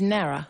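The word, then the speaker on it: Nawra: N A W R A is Nara.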